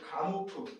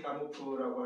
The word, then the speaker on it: 가모프: 여기에 가모프, 조지 가모프라고 하는 가모프 또는 푸자를 묵음으로 가모라고 나오긴 합니다.